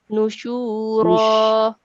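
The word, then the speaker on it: نُشُورًا: Nushura. Yes, just prolong the sound of sheen. Nushura.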